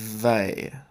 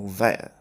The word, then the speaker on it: Weil: I know it says whale, but it's not pronounced that way. It's Simone Weil, or Weil. I can't pronounce it properly.